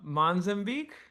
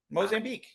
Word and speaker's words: Mozambique: So let's drop the side one and then we we just wrapped up u Monzanek. That did I pronounce that right? Mozambique.